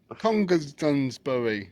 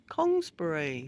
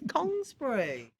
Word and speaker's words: Congresbury: Congersbury, how do you say it again? Congresbury. My child, get it right. What's the matter with you? It's Congresbury.